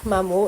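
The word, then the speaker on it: maman: মামু। এটার উচ্চারণটা হচ্ছে মামু।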